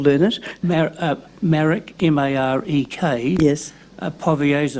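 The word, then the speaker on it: Powierza: it marek m-a-r-e-k yes povioza r p-o-w-i-e-r-z a powerful it's a v in there yes it's pronounced v it's it's pronounced as povasa but it's p o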